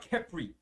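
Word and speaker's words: Khepri: movement of the sun that was the god kephry k-h-e-p-r-i and that guy also wore a fly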